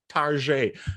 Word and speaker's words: Target: that's Target and and Target is a U.S retail chain it's a bit more upstick upscale than other big box retailers and so sometimes people pronounce it as a pseudo French name Tarjay and and so that